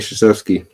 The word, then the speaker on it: Krzyzewski: Do you know how to pronounce his name? Or Mike just Coach K? Yes, Mike Krzyzewski.